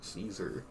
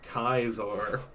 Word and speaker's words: Caesar: There's the difficulty with the C pronunciation. In English it's Caesar, but in Latin it's Kaiser.